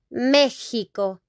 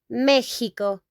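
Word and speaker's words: México: Mexico, we pronounce that in Spanish, Mexico. Like H, Mexico, Mexico.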